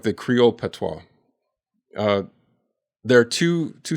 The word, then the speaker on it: patois: This is the big This is one of the biggest ones and it's the How do you say patois?